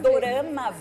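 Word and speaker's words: ドラマ: Na verdade, dorama vem da pronúncia como é ali na língua asiática, da palavra drama.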